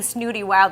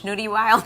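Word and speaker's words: Snootie Wild: you see you know what i've been saying snooty wild i'm saying it wrong it's schnoody wild yes okay you know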